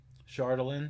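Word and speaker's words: chardalyn: there you go that's how you pronounce that pronunciation guy is good care konig yeah that's how i said it um chardelin yep i said that right chiwinga yup i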